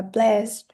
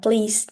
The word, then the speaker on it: blessed: Từ này mình đọc là blessed. Blessed. Chứ mình không đọc là please nhé.